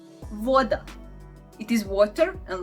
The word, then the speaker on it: voda: Voda. Voda. It is water, and like V in the water.